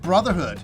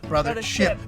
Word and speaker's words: Brothership: But the reason why we keep calling it Brotherhood. I don't know. I've been calling it that for months, and I'm like, Brothership.